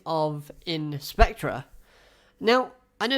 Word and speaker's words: In/Spectre: gonna pronounce a slash I'm not gonna say in slash spectra it's like hunter hunter you don't say hunter x hunter you say hunter hunter you know let's just